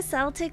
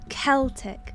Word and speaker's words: Celtic: Say it like the football. Celtic.